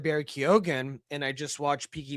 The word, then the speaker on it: Keoghan: I thought about Barry Keoghan, or I forget how you say his name.